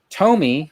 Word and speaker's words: Tomy: Tomy, which I'm I was previously told is the proper way to pronounce.